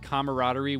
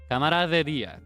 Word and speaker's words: camaraderie: Camaraderie. Camaraderie. It's almost like a tongue twister for me. Yeah, it sounds like camera of the day, right?